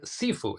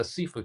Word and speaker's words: Sifu: Cantonese, Sifu, Mandarin Chinese, shifu.